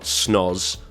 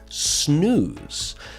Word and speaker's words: snooze: of that word so it's not snos or snows it is snooze now that's just one